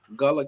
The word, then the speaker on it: Gullah: I'm glad I left Virgil's Gullah Kitchen. Is that how you say it? Yeah, that's true. That's it.